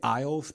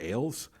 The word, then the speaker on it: Ailes: about the Roger Ailes I always feel like I wants the aisles but I'm pretty sure it's pronounced Ailes he'll be wrong this is about the